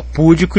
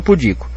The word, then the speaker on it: pudico: Tem gente que fala púdico e tem gente que fala pudico. Se tá sem acento é porque tem que ser púdico. Não pode ser púdico. OK? Púdico teria que ser assim, porque aí teria próparoxítono, pudico. Mas se não vem com acento, eu leio pudico.